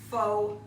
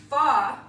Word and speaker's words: pho: And we are gonna move onward to our Faux Pho. Now, pho is P-H-O, and it's very easy to pronounce it faux, and I've done it before too, but it's actually pronounced pho, F-U-H.